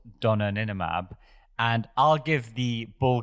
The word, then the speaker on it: Donanemab: I think it's Donanemab.